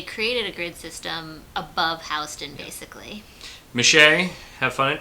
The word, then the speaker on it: Houston: good system like a south of Houston which pronounced Houston not Houston that's all where New